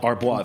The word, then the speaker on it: Arbois: How do you pronounce Arbois? Arbois.